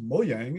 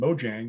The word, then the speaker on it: Mojang: the mojang people which ironically is pronounced moyang in swedish and mojang when you say it in english yeah but i had